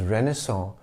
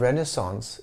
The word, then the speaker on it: renaissance: application of that rule because the last letter of renaissance is e so the penultimate letter c is vocalized with the s sound while renaissance with a